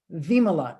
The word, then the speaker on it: Vimala: But it's actually pronounced Vimala. It's from India. It's in India.